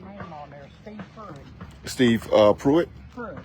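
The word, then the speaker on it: Preitt: t t okay sounds like but it's pronounced puit okay Steve puit somebody DM me Steve puit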